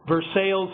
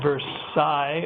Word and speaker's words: Versailles: Cincinnati for 25 years there's a place called Versailles Indiana which i think is pronounced Versailles over in France again if you if